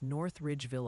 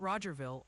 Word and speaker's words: North Ridgeville: Also, the pronunciation police are on patrol and wanted to gently remind you it's North Ridgeville, Ohio, not Rogerville, unless you're secretly trying to establish new municipalities on air.